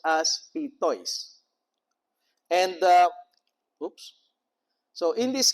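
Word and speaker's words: πειθοῖς: it with Erasmian pronunciation, peithois. But this is a case wherein in the Greek language, you have the development wherein epsilon iota is pronounced as E, not A. So it's also pronounced as pitois.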